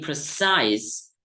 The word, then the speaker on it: precise: stress for example here the second syllable size is the primary stress so when I'm saying precise size will be longer and higher in page so I do not